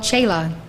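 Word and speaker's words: śīla: obedient to his guru the word sheila in hindi is called shayla if you you if you wish to use that correct pronunciation you are welcome to i first heard the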